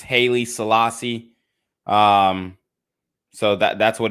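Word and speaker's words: Haile Selassie: people should read that for themselves what about Holly Selassie because this is what happened to Kyrie Irving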